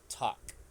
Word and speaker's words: talk: like the same category we don't say talk with the L we also say talk because the L Sound is silent okay okay teacher okay